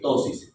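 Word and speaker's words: ptosis: en los pacientes de tosis es eh tosis se escribe peteo tosis tosis palpebral se llama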